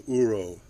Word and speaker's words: uro: And if we look, they are very close to what the Japanese call uro, which is spelled ur o, and it's just defined as a scar where the vellum is is healing over, but it hasn't healed.